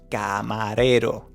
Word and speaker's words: camarero: Here, that R is a soft one, which means that we need to position the tongue in front of your teeth and just place it soft and going forward.